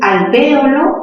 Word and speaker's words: alvéolo: Si dices alvéolo, la mayor fuerza está en B. ¿Qué tipo de palabra sería? ¿Aguda, grave o esdrújula? Sería una palabra esdrújula y por lo tanto se tilda.